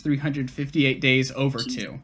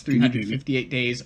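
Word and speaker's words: 358/2 Days: you would write it the way they want you to pronounce is kingdom hearts 358 days over to yes kingdom hearts 358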